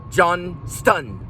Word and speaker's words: Johnston: And all you English majors and people that are picky about pronunciation, Daniel Johnston. Okay? Johnston. Okay? I know. All right, you got your way. Johnston. Daniel Johnston. Right? It's pronounced, okay?